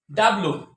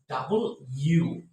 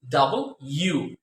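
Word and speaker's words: W: সবাই আমরা জানি এটাকে বলি আমরা ডাব্লিউ তাই না ডাব্লিউ এইটা হলো গিয়ে একেবারে ভুল উচ্চারণ এটা কি এটাকে বলা হয় ডাবল ইউ কি বলেছি ডাবল ইউ ডাবল ইউ মনে থাকবে কি বলেছি ডাবল ইউ এটা মনে রাখতে হবে ডাবল ইউ তারপরে আসেন এটাকে কি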